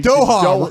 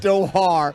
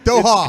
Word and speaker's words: Doha: Okay, first of all, let's work on the pronunciation. Doha. Not Doha. Doha. It's Qatar, but Doha.